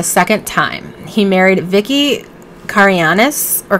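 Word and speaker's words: Karayiannis: time he married vicky carianis or cariani uh she's greek and i know in greek it's pronounced cariani i'm not sure if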